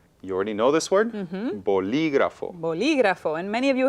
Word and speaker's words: bolígrafo: Entonces, bolígrafo. Where's the stress? I hear Bolí. li. Ajá. Bolígrafo. Okay. Y entonces necesita un acento Claro que sí. en la I.